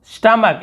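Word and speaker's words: stomach: स्टमक, स्टमक यानी होता है पेट, यहाँ पर भी एच को नहीं पढ़ रहे हैं, स्टमक बोल रहे हैं, स्टमच नहीं बोल रहे हैं।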